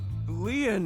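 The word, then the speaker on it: Lien: by your side my name leon is spelled l-i-e-n in french leon means bond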